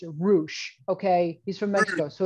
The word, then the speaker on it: Rush: Look at the fancy boy with all his proper pronunciations. Roosh.